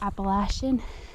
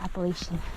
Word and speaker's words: Appalachian: You might hear Appalachian. I think that's depending on where you're from, how you pronounce it. From the Midwest and pronounce it Appalachian.